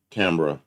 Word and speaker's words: Canberra: It's so often pronounced that way. And you got Canberra spot on the first.